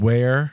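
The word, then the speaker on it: Weir: Lucas, this is a place called Ware, Massachusetts. Whoa. Where is that? Exactly. That's the joke. Nice. But it's spelled W-E-I-R, where.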